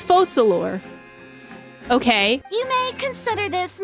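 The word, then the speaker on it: Focalors: C and faux slower is collect so it's focalor okay you may consider this my reward to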